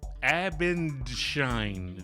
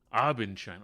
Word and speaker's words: Abendschein: Our first guests guests I guess um joining us tonight, Gary and Myra Abendine. Did I say that? I butchered that, didn't I? a little bit shine. Abenshine.